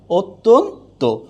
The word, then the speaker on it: অত্যন্ত: আর অত্যন্ত হয়ে যাবে কি, অত্যন্ত। কি হয়ে যাবে, অত্যন্ত।